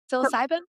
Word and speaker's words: psilocybin: Psilocybin.